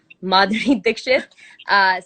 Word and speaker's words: Madhuri Dixit: and seeing madhuri they mud i said her name wrong madhuri dixit seeing her in films because she's also a